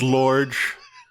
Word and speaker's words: Lorge: pronounced Lorge. Lorge.